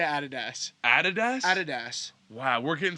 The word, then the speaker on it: Adidas: Nike or Adidas? Nike. Nike, yeah. I do love. Oh, again, Adidas. We say Adidas.